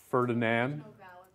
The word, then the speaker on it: Ferdinand de Lesseps: Oh, we wouldn't say the N and D. Ferdinand?